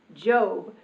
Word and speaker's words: Job: before going off to her job which in the Bible is pronounced job so before job is